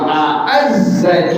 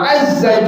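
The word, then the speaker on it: أعز: Wa a'azza junda. Yang pertama hamzah, yang kedua ain. A'azza yu'izzu. Jadi antum bacanya bukan wa azza junda, tetapi wa a'azza junda.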